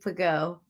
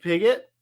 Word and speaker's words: Pago: their name, is Steve Pago. I didn't give him a nickname. I have 3 names for him: Steve Piggott, Pigo, and Peugeot. Yeah.